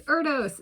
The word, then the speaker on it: Erdős: it's Parisi, or it's Erdős, it's Erdős, it's Erdős, or Erdős. It's pronounced differently. The O with 2 diagonal dots over it. And they're like elongated dots, kind of.